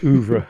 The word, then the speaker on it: oeuvre: Do you pronounce it oeuvre? Yes, oeuvre.